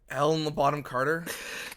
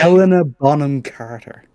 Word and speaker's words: Helena Bonham Carter: Helen Bottom Carter.